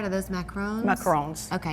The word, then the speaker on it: macaron: Are those macarons? Macarons. Okay, because there's a difference in a macaron and a macaroon. Macaroon is a coconut cookie.